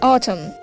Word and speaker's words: autumn: What autumn? Here, the silent letters in autumns are O, A, autumn, O, A and N.